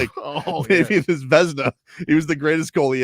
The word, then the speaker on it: Vezina: It looks like Veniza, right? Vezina. Vezina. Vezina, yeah.